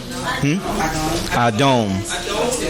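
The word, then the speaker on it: אדום: That first one under the aleph is A. So how do you say red? Anybody want to help her out? Elimelech. Adom. Cain. That dot on the top of the dalet is the O sound.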